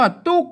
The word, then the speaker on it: ทุก: ว่า ตุ๊ก นะ ครับ เขียน ว่า ทุก นะ ครับ อ่าน ว่า ตุ๊ก นะ ครับ อ่าน ว่า ตุ๊ก